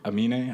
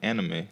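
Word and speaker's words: Aminé: I used to call him like Anime. No, it's an N. The N is. I mean, the M is first.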